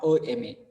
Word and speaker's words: M: And why not a MA? Here you people will come to know that when you people are going to pronounce M, how do you pronounce M? AM.